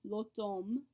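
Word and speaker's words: l'automne: a cognate with autumn lotom remember that an au combination says o so we have autumn not autumn this is a very distinct pronunciation difference between french and english even though it's still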